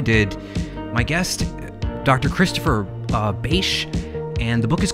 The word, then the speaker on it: Bache: your website URL book my last name is pronounced beige there people can contact